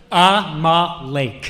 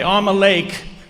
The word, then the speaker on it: Amalek: It says that Amalek, whatever however you pronounce it, okay, say it again. Amalek. Okay, Amalek.